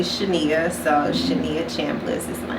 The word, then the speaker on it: Shania: every time so yeah I get Shania Shayna all types of things but it's actually Shania so Shania champless is